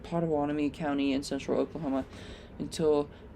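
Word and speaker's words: Pottawatomie: Yes, I said it right. Podawani County in central Oklahoma until 12:45 a.m.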